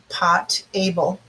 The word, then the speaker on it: potable: white gray and black white water is also what we call potable water and it's like pot able so it's potable and that's how you say it so um that is